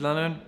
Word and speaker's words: Lannen: My name is Lannen, rhymes with Cannon, and the tea room is open.